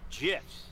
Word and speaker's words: GIF: via hilariously violent gifts from developer dead toast pronounced jiff pardon me yeah yes you say guess it's